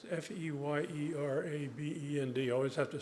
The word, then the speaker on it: Feyerabend: It's Feyerabend. I always have to spell it out because it's an unusual spelling.